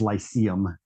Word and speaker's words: Lyceum: language so the right the dictionary says lyceum is how you pronounce it but yeah that was